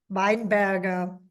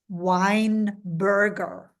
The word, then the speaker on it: Weinberger: I had a friend from New Zealand, and she thought it was Weinberger, yeah, as in the drink and the type of food.